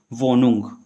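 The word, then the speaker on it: Wohnung: ठीक है, जैसे यहाँ पे हमारा एच दिया हुआ है, इसके बाद एन दिया हुआ है और इससे पहले ओ दिया हुआ है, तो एच हमारा क्या हो जाना चाहिए, साइलेंट हो जाना चाहिए।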